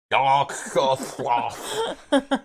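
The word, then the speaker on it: Yog-Sothoth: Yogg-Sothoth? Yogg-Sothoth.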